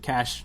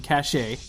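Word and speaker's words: Global Caché: which I had to pronounce right because I've pronounced it cache incorrectly in the past and it's definitely cache.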